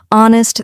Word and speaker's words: honest: K is signed silent honest the H is silent and Castle the t